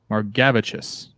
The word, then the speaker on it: Margavicius: Pronunciation, M-A-H-R, so Mar, then G-A-V capitalized, so Gav, Chis. Margavicius.